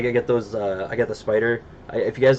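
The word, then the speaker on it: Spyder: Spider brand? Spider, yeah. Spelled like SPY.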